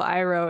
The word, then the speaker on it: Iroh: They say Uncle Iroh in the show, and you said it correctly.